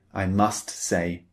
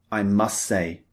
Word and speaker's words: must: We don't usually, in spoken English, pronounce the T at the end of must. We don't often say, I must say.